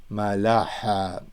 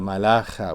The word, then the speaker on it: malaha: So the khet and the kaf, they used to be pronounced, and they still are in Al-Qush dialect, different ways. In my dialect, a lot of Assyrians, we pronounce it both like khet and khab, but khet could be het. So malaha, the pilot, not the malacha, which is the angel with the khet.